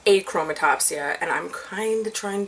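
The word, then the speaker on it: achromatopsia: have a chroma topsia I have been pronouncing it a chroma topsia pretty much my entire life but I learned recently that it's eight chroma topsia and I'm kind of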